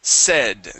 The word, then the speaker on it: said: Let's go to said this word here is said. Okay, you had said. Okay, this is a short e sound. s se s said said good.